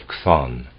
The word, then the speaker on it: Chthon: But Pherecydes also speaks of three principles of the world, of Kronos, of Zeus, and of Chthon. Chthon is spelled C-H-T-H-O-N.